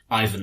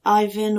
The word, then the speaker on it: Ivan: kind of opens with ivan or ivan that's how you say it even yvonne is the more russian way but like ivan is